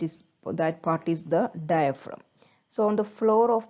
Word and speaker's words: diaphragm: called diaphragm so see the spelling of diaphragm d i a p h r a g m so it is pronounced or it is read as diaphragm so